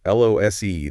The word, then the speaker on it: lose: L O S E. The adjective ends with a clear s sound. Liss. Like goose. Liss. Okay. But loose lose e the verb ends with a z sound.